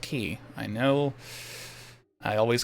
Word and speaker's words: Quay: over in bowerstone key yes it is pronounced key i know i always called it quay myself but it's pronounced key all right and since